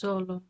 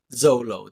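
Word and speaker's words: Xolo: unquote Spanish representation you found out how to pronounce his name it's Zolo Zolo there you go Zolo Mar all right so yeah I know I'm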